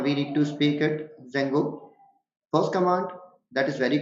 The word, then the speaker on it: Django: install space dzeno or pip space install space Zango exactly in the terms of pronunciation this is Zango D is somewhat you can say Sir this